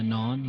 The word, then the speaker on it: naan: I did, and then I got the naan bread as well. Like, is that how you say it? Yeah, the naan.